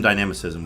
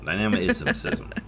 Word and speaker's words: dynamism: You get some dynamicism with the Queen's Indian, at least some. I like that. Dynamicism. Exactly. It's a lot of isms there. So dynamism, you know? Ism. That's right. That's how you say it.